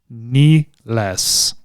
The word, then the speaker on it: Nilles: Hey, according to Wikipedia, her last name is pronounced NILLES. Ah, so there's a third. ANIKA NILLES. NILLES. Okay. Like somebody cut her off at yes, just she's above the knee.